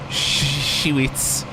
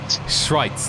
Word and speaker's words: Schweitz: Then we move on to Schwitz. Oh my god. The names are really not pronounceable. Schweitz, there we go. Schweitz. I said Schweitis by accident, but it's 3:49.302 for the number 10 car.